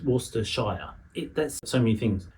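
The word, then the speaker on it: Worcestershire: Shiers are not pronounced shia they're pronounced sh. One of the best known one is worester but it's worester shire.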